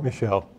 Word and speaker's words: Michel: They pronounce him Michelle? Michelle.